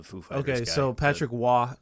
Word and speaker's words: Roy: figh okay so Patrick W it's spelled r r o y so it looks like Patrick Roy but it's pronounced W because he's like French Canadian who is this person